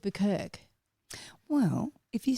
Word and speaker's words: Bukirk: listen the chooks actually do say buerk which is awesome but when I was coming up with the name I would go around and get people to say it to make sure that they'd say it right but some people would say buer and I'm like well